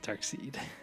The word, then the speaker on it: Darkseid: Darkseid. But they call him Darkseid, but it's spelled Dark S-E-I-D.